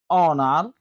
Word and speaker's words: honor: H is silent at the beginning of some words. For examples, hour, honest, honesty, honor, honorable, air.